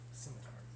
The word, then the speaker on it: scimitar: So did you really say scimitar? Scimitar. I've never pronounced the C.